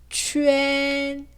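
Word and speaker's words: quan: 추엔. 네, 이 발음을 추안이라고 읽으면 틀리게 됩니다.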